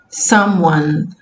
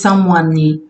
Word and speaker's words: someone: Porque normalmente palavras em inglês terminados com E, o E não é pronunciado. Someone. Vê que você não diz someone, né?